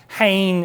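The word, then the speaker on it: חן: Uh that that the first hen is the transliteration. Hayne is the uh how it's uh pronounced and it means viewed with favor.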